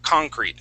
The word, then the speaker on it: concrete: no f in there concrete okay when we're talking about the uh um the material okay um then then we would say concrete with the accent at the uh at the very beginning okay now if we